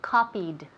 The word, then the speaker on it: copied: Remember, we don't speak Andaluz English here, so no me digáis copy. Copy, copy es el presente, dame el pasado. Copied, copied, con D al final.